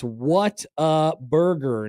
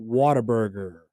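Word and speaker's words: Whataburger: It's what a burger, not water burger.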